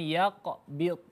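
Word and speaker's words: يقبض: contoh yang lain misalnya yaqbid yaqbid huruf qf dan huruf d jadi ada dua huruf istiala dalam keadaan sukun harus dibaca dengan tebal yaqbid ya huruf d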